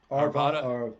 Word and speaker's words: Arvada: Arvada. Arvada, yeah, It's the same thing as Nevada, Arvada. right. Yeah, that's what they told me how to say it. Say it like it's Nevada.